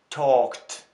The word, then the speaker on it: talked: Talked. Заканчивается на глухую согласно k, поэтому прошедшее время читается как t.